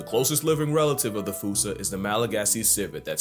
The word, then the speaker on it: fossa: But if you follow the Attenborough rule, Sir David would have had you saying Fossa. What if I told you both are technically wrong? Cause their name comes from the original Malagasy word, and apparently the correct way to say it is Fossa. Like Foosh.